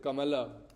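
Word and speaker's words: कमल: In Hindi, kamal, how many syllables? 2. Ka and mal. Ka and mal. Why mal? Because after la there is no a, you can't utter that. You just say mal.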